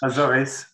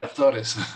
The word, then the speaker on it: Azores: I don't know how to say it in English. Azores, yes. Yeah, Azores.